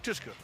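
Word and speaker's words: Tuszka: Tuska? Is that how you pronounce his name? Yeah, Derek Tuska.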